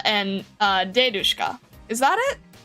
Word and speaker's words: dedushka: The emphasis in babushka and dedushka lands on the first syllable.